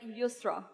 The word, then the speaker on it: Yusra: But my name is Yusra, so I pronounce like Yusra.